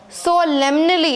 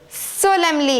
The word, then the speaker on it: solemnly: called dodo said the dodo solemnly many people pronounce this word as so lemonly it's not lemonly it is Lemley solemnly and is silent over here so it is solemnly solemnly I hope you got it now let's